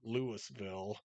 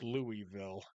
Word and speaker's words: Louisville: So, we pronounce it Lewisville, and in Kentucky it's Louisville, and they're spelled exactly the same.